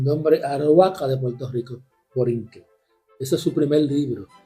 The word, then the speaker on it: Borinquen: También plantea en ese libro de Américas que Borinquen, con acento en la N, porque esa N en el lenguaje arauco es un plural.